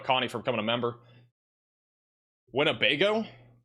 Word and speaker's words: Winnebago: Winnebago. It's definitely not Wnebago or what does that say?